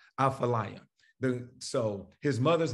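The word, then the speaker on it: Athaliah: Apha, there's no F in it, but it's pronounced in the Hebrew, Aphaliah.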